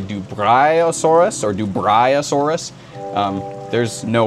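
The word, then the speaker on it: Dubreuillosaurus: In French, it's supposed to be pronounced Dubriosaurus, and in English, it's Dubriosaurus, which again is almost as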